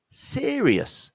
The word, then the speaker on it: serious: And the next word, serious. So this word has three syllables. It's the same stress point at the beginning, serious. But instead of riz, we're going rius, serious.